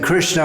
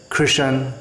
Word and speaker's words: Krishna: And instead of saying Krishna, often they say Krishan, Kishan.